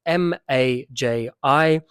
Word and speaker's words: maji: my wife's pronunciation of the letter J in Swahili is very different to mine. So the word for water is M-A-J-I. I say maji. I pronounce the J strongly, whereas most Tanzanians kind of hide their J, like my wife just did.